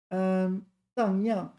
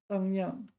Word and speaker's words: 荡漾: And I got the pronunciation right. Wow. Young. Dang yang. Okay. Dang yang.